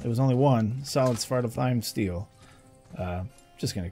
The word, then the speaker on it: Svartalfheim: Svartalfheim, I'm pretty sure, is actually the way you pronounce it because they do pronounce it in game. But it's just easier to say it the other way.